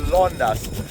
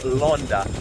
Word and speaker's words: Landas: Yes, I'm Roman, and today we are in the city of Landas, a French, I think that's actually pronounced Londa, a French commune in the Nord department of the Hauts-de-France region.